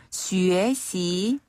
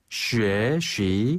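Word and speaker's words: 学习: 그리고 슈에 시. 슈에 쉬 한 번 더 슈에 시.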